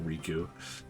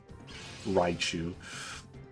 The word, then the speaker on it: Raichu: I was trying to call him Riku. Raichu.